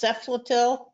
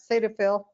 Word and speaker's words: Cetaphil: called, it's hard to pronounce, Ceflatil, something like that. Cetaphil.